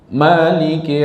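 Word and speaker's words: مالك: Maliki yaumiddin. Boleh juga ya. Cuman jangan tasdik ke lam dengan kafnya. Kadang-kadang bacanya Malik gak Malik seolah-olah nyatu dia padahal tidak.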